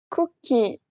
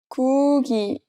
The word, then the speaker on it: 쿠키: 쿠키, 쿠키. If you read it as a non-aspirated consonant, it will be 구기, 구기.